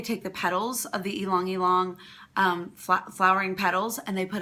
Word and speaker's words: Ylang Ylang: one of my favorites, and it is called Ylang Ylang, and we spell that Y-L-A-N-G and then Y-L-A-N-G again.